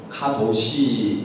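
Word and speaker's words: קדוש: 좀 전에 말씀드린 것처럼 카데시, 이 말은 본래 히브리 단어입니다. 히브리 단어로 카도시 이렇게도 발음하기도 합니다.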